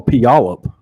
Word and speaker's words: Puyallup: think I'm gonna die how do you say that word pull you up oh Puyallup put y'all that's where my folks live oh yes you nailed it there you go you